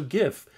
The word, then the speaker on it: GIF: for a second so gif as I like to call it because it stands for graphics interchange format and graphics is a hard G you don't say Geoff fix and a change format